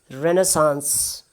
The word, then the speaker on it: Renaissance: Rather, it is easy because stress is at the beginning. You can say Renaissance.